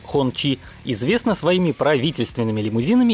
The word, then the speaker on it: Хунци: Постоянные зрители новостей с колес обязаны знать, что китайская марка Хунци, или в модной сейчас точной передаче китайского произношения Хончи, известна своими правительственными лимузинами и парадными кабриолетами для партийной верхушки КНР.